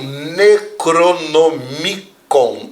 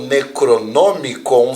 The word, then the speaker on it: Necronomicon: mitologia popular da Galera o necronomicon ou necronomicon se você considerar o a escrita em outra língua Ou necronomicon se você tentar pronunciar em língua portuguesa ele é um livro